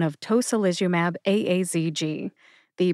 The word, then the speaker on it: tocilizumab-aazg: relations from fenus cabi I did not know if you were supposed to say it as asj or if you're supposed to say the the four letters as I have learned it is a a z g the only dumb question